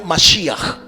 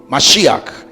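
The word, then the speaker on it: משיח: que tiene las láminas, la palabra mesías se dice en hebreo masia. Mas y se escribe con las letras men, shin, yot y het. Cuatro letras. Men, shin, yot y. Así se escribe, masíak.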